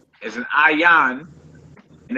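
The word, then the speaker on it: ayin: The next letter is an ayan, and it's a silent letter like your Aleph symbol.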